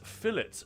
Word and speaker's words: fillet: Polite meat popsicle is fillet pronounced in England like a hard tea.